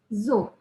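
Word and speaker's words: ぞ: Kalau kita kasih dakuteng, maka cara bacanya jadi zo. Jadi dari so ke zo.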